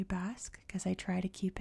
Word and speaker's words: Basque: always call this place Bosque until like maybe a year ago someone pointed out to me like it's pronounced Basque in English so if I slip